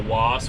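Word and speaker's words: WAAS: By default, most GPS systems are set up under what we call WAS, which is spelled W-A-A-S.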